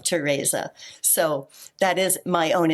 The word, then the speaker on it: Tereza: Well, the Z in there, I have tried to kludge so that it has that more exotic pronunciation of Tereza.